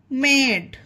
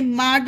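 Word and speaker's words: made: टैग, फैन, बैड, man, flag, मेड। इसे माड नहीं पढ़ेंगे, मेड पढ़ेंगे।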